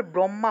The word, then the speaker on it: ব্রহ্ম: হ যুগ্ম এভাবে উচ্চারিত হয় মনে করেন যে ব্রহ্মা ব্রহ্মা আমরা ব্রহ্মা বলে থাকি ঠিক না কিন্তু এটা আসলে ব্রহ্মা হবে না এটা হবে ব্রাহ্ম ব্রহ্মা অর্থাৎ হ